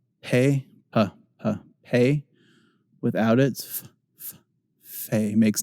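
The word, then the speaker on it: פ: So it's a silent letter for all our purposes today. Pay.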